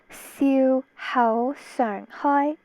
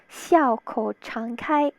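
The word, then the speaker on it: 笑口常開: So this whole thing reads Siu Hao Sung Hoi. Siu Hao Sung Hoi. In Mandarin, it's pronounced Xiao Kou Chang Kai.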